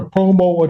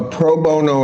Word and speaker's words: pro bono: Uh is it a such thing as a promo attorney? A what? Uh, I may not be pronouncing that correctly. A lot of denture work done. Proono. Proono attorney. Yes. A pro bono attorney.